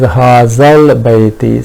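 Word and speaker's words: هذا البيت: ignored this Hamzatul Wasl, the pronunciation is Hazal Bayti. So Laam has been pronounced here, while in Shita and Saif, those were sun letters, Laam was not pronounced at all.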